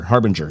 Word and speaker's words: Harbinger: Jordan Harbinger? Yes, Harbinger. Yeah, I knew I was going to mispronounce that.